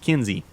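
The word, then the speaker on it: Kinze: with a you know with a e pronounced on the end okay looks like that's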